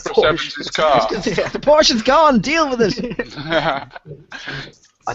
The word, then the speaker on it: Porsche: The Porsche's gone. Deal with it. I think you'll find it's pronounced Porsche.